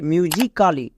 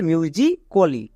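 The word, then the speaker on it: musically: এল এল ওয়াই আছে তাই এখানে এ সাইলেন্ট মানে এখানে আমরা এ এর উচ্চারণ করবো না কিন্তু অনেকে এই সাইলেন্ট লেটার জানে না তাই তারা ভুল উচ্চারণ করে যেমন দেখো আমি যদি এখানে এর উচ্চারণ করি তাহলে এর উচ্চারণ তাই মিউজিকালি বাট এটা সম্পূর্ণ ভুল উচ্চারণ এর উচ্চারণ হবে মিউজিকালি চলো বানান করি এম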